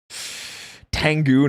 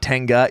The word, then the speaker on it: Tengu: Tengu, not Tenga. Yeah, but they say Tenga. Tango Warriors. It is. They pronounce it Tenga. They do. That's why I said Tenga, because that's what they say. It is Tengu, but they pronounce it wrong in the show all the time.